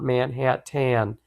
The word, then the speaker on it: Manhattan: in the hat tan the man in the hat tan hat bought manhattan get it manhattan man tan hat oh